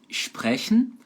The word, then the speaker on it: sprechen: Depois nós temos a palavra sprechen. Pega uma outra regra de pronúncia aí, ó. Anotem, por favor. Anotem que é importante. S antes de P de pato e T de tatu soa igual ao SCH.